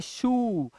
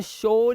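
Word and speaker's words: shoe: देखिए ओई लगा बट इसे पढ़ते हैं शू अब इसे शो नहीं पढ़ते शू इसे क्या पढ़ते है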